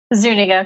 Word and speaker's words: Zuniga: today from Escapism in Southington, Connecticut, co-owner Chelsea Zuniga. Right? I got that right? Zuniga, close enough. Yeah. Come on. Thought I'd do it Zuniga.